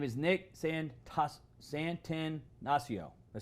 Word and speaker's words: Santonastasso: His name is Nick Santonastasso. Did I say it right, Nick? Santonastasso. So tired for me. I can't pronounce orange on this show.